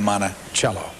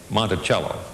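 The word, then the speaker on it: Monticello: that we get uh jeffson received all kind of letters in which people tried to spell out phonetically monachello so we know from Jefferson and from the letters that that's the way it was pronounced also it's Andrew Burstein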